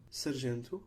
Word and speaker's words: sargento: These vowels become nasalized if M or N precedes the vowel, and M or N will not be pronounced as a consonant itself.